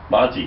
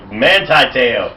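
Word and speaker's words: Manti Te'o: Manti-Teo. Manti! What did I say? Monty. What's close? Monte. Well, here's the guy. Manti-Teo. Now we've got it right.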